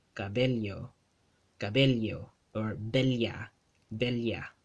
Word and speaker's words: bella: Whenever two L's are spelled side by side in a Spanish word in the Philippine Spanish dialect, they get pronounced as a li. Cabello, cabello, cabello, or bella, bella, right?